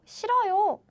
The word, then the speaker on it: 싫어요: So what happens is, it sounds like 싫어, 요. 싫어요, 싫어요. 싫어요 is how we pronounce.